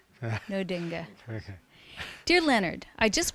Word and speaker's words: Nödinge: It's Nödinge. Nödinge.